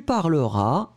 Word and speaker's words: parleras: Donc, encore une fois, oups, pardon, encore une fois, je parlerai, tu parleras, S final, pas prononcé.